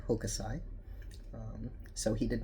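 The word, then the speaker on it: Hokusai: Um, first of all, I was pronouncing his name wrong. Of course, I was using the very westernized pronunciation. It's really Hokasai.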